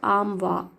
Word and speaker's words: armoire: So it is armoire, or armwa. R is silent in British.